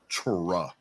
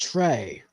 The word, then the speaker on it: Tra: Tra. Actually, I've been watching some games where he is refereeing, and his first name's actually pronounced Trey. Trey Blake. Yeah. Trey Blake.